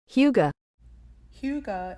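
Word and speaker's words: hygge: the international front here is another foreign word how to say it Huga Huga is a Danish or Norwegian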